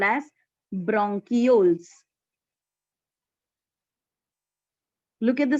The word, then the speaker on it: bronchioles: So B-R-O-N becomes bronch, C-H-I is key, or you can also pronounce it as chi, so it becomes bronchioles or bronchioles.